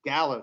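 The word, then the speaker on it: Galo: Gallo, thank you.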